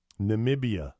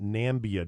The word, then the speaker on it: Namibia: tweeted that she suffers from the illness fibromyalgia Namibia Namibia Madam President Trump mistakenly called it nambia during a species night in nations Namibia's the